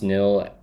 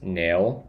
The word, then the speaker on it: nil: Come up with a plan to nil Do Merkins pronounce nil as nail? No, nil. Nil, N-I-L.